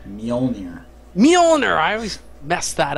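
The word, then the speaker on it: Mjollnir: How do you say the Mol'jir? Mjolnir.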